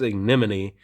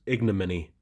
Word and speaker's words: ignominy: the ignominy he says ignon but it's actually pronounced ignominy you sound it out IG no many and uh because ignominious